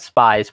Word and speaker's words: Spies: It's spelled Spies, but I think it's pronounced Spies.